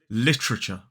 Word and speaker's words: literature: pronunciation of this word in a modern British RP accent is literature literature three syllables the stress is on the first literature three syllables the